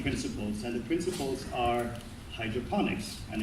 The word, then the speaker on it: hydroponics: They always say like hydrophonics. It's actually hydroponics because phonics means comes from phono. In Hindi, it means sound, and it's like telephone, microphone. So it's not that. It's hydroponics, which means to work with.